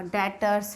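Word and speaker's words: debtors: अब जो मैं एसेट्स यहाँ लिख रही हूँ, डेब्टर लिखा है नाम लेकिन बी साइलेंट रहेगा, डेटर्स है ये।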